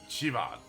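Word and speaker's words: Siobhan: Yo, Sioban. Sioban. It's pronounced Chivad.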